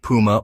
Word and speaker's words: Puma: He thought it sounded better and said athletes wanted to be like a puma again, depending on where you're from. You may say Puma or Puma.